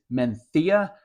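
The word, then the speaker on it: Mencía: grape from Northern Spain I guess technically it's menia but I feel like I sound like an idiot when I pronounce it correctly so let's go hey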